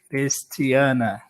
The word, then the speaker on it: Kristianna: like this, Christiana. Okay. Yeah. But the I pronunciation is the same, okay. Christiana.